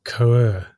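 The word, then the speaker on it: Cœuré: And then you go down and you talk about Benoit Quer, who's the head of the BIS Innovation Hub. Oh, no, Sean. Oh, go on. Coer. And he's spelt it out phonetically.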